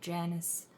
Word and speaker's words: Janus: And um we are starting the period of Janus. This is the correct way to pronounce it, at least in the English language.